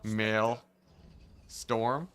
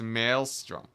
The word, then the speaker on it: maelstrom: out go watch yourself male storm yeah no it's maelstrom maelstrom's accurate what the settlement just randomly